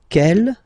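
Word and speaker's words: quelle: same way and then the feminine form is written like that q l l but it's pronounced like the masculine form Kell the masculine k at the feminine okay so it's basically same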